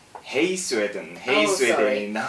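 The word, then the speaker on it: Hej: Hey Sweden이라고 발음을 하고 쓸 때는 H-E-J Sweden.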